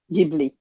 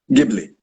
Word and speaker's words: Ghibli: How do you pronounce it? Ghibli. Ghibli.